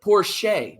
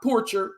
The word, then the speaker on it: Porche: to Joey Maguire um Sterling Porche not porcher Sterling Porche the Middle Tennessee State